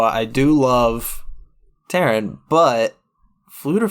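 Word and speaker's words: Ffleddur: But, I just wanted to mention that Fluter Flam's name is spelled F-F-L-E-W-D-D-U-R. That's Fluter, and Flam is F-F-L-A-M.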